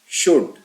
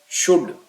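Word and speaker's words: should: may might must shell शुड again L silent है इसलिए इसका सही तलफुज शुड होगा विल वुड कैन सलाहियत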